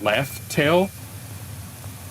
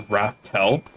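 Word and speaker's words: Laugh Tale: And it was actually that the people that got there named it Laugh Tail because it was funny. Whatever they found there made them laugh. And it just got mispronounced as Raftel.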